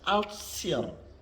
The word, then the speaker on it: altior: Ditulis Altior dibaca Altsior, Altsior. Ditulis Contio dibaca Concio, Concio.